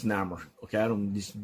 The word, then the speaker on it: Namor: It's Namor. Okay, I don't know these words the way you pronounce it.